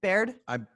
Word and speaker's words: Baird: Is that how you pronounce his last name? Baird? I believe so. I want to make sure I get that right. That's how it's spelled. And I don't know that I've paid attention to somebody. I've said his name to a few people and nobody's corrected me. So I think that's the only way you can pronounce it.